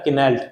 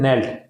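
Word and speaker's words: knelt: जैसे यहाँ पे अगर हम पढ़ें इसे के का अगर उच्चारण करेंगे तो ये हो जाएगा किनेल्ट, इस टाइप का कुछ हो जाएगा, लेकिन ये बहुत ज़्यादा डिफिकल्ट है पढ़ने में, ठीक, बोलने में भी। लेकिन नेल्ट, नेल्ट कितना ईजी हो गया, तो इंग्लिश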